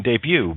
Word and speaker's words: debut: T is silent in debut, ballet, and, oh, look at that, castle.